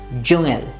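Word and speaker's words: Dschungel: So this word, it looks very difficult to pronounce, but it's a simple jungel, jungel. Remember, here the NG comes, so don't make it jungel, jungel.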